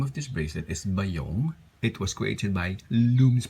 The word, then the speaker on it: Bayong: would like to acknowledge that the reason why bayong was created was because um lom's passion was